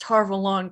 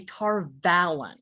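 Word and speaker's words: Tar Valon: to tarvel on and thank god they they pronounced tarvel on correctly it drives me nuts in the audio books they always say tar and every time they say i'm like vlog start full on get it right there is a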